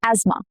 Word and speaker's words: asthma: Asthma, not asthma, asthma.